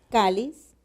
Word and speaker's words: cáliz: y ten como vemos esta palabra entonces lleva la mayor fuerza de voz en la penúltima sílaba kalish miro su última letra